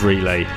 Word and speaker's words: Relai: They offer all the same services as Swan, and you can start smash buying and fiat cost averaging with Relay through their app.